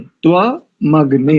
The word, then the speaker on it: त्वमग्ने: तव नहीं करेंगे, त्वा, त्व त्वम अग्ने, त्वा मग्ने। अग्ने त्वाग्ने।